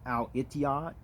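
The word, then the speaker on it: الاتحاد: in arabic right there as i mentioned actually that's pronounced al itiya and then you see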